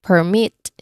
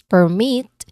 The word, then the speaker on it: permit: Think about words like permit which is the noun like a school permission slip versus permit which is the verb meaning to allow something.